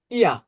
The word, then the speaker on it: ihr: আবার এখানে ইয়া, ইয়া, এইচটা কি এইচ এর মতো উচ্চারণ আছে, তাই না? তো এটা এরকম এক্সেপশন, একটু মনে রাখেন।